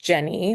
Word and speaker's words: Jenne: well my name is Jenny it's pronoun it's spelled j n NE but pronounced Jenny like Jenny with an e and um I moved